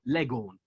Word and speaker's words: Leghorn: have been cockneys because they didn't pronounce the H so it became Laguna became Leghorn or Legon right so that's the